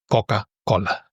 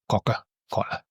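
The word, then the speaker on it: Κόκα-Κόλα: Coca-Cola in Greek because the O is not an O. It's an O. So it would be Coca-Cola. Cocker collar.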